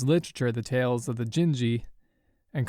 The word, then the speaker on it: Genji: The answer was the Tales of the Genji, and I said the Tales of the Genie.